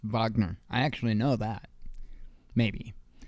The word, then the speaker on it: Wagner: Wagner boss and yeah it's pronounced Wagner I actually know that